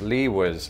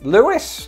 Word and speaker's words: Lewes: go with leeway's delaware lewis lewis like the name that's weird because america